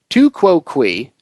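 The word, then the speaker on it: tu quoque: Pronounced tu quo qui, literally translating as you too, this fallacy is also known as the appeal to hypocrisy.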